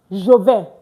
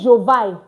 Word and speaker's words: je: Jo. Please don't say Jean. Don't say I said is I am going. Take note of my pronunciation.